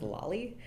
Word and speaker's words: lolly: We also have a kind of implication in linear logic, usually written like a sideways lollipop and pronounced lolly.